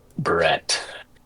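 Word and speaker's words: Breht: Brett. My name's Brett. But it's spelled all fuckey.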